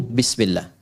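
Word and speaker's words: بسم الله: Asalnya ini ada alifnya di sini dari kata ismun. Begini. Asalnya bismillah. Dibaca nyambung bismillah. Dan cuma di bismillahirrahmanirrahim alifnya hilang.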